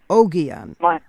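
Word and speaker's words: Ogion: And how is it a hard G or a soft G in pronouncing O G I O N. I say Oon. Oianon. Oianon. Yeah. My the G's as in g are generally hard.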